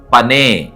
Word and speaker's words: פָּנַי: என்று மொழிபெயர்க்கப்பட்டிருக்கிறது இந்த வார்த்தைக்கு பின்னால் இருக்கிற எபரேய வார்த்தை பனே உச்சரிக்கிறேன் பே நூன் யோ உயிரெழுத்துக்களோடு உச்சரிக்க வேண்டும் என்று சொன்னால் பே காமட்ஸ் நூன் பெட்டாயோ பனே பனே என்ற எபரே வார்த்தைக்கான டைரக்ட்